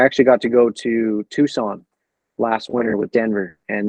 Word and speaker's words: Tucson: that's sweet Tucson I every time I see Tucson I think you pronounce it Tuscan and then I remember it's Tucson but yeah um to